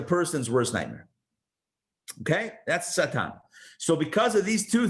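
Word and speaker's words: שָׂטָן: So it's spelled with the letter sin, tes, and nun, Satan. Now, the letter sin could also be a shin. If you just change the dot from the left side to the right side,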